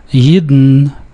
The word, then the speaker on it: Yidden: The N in Yidden is syllabic, so it has two syllables, and the L is a lowercase l, so it's a dark L. Yidden in alle Länder.